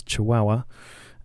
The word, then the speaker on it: Chihuahua: been told the correct way to say it's chihuahua and um yeah just taking out the capital